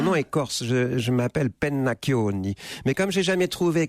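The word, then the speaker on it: Pennacchioni: mon nom mon nom est corse je m'appelle peine maccioni mais comme j'ai jamais trouvé quelqu'un foutu de prononcer mon nom jusqu'au bout cette venue pennac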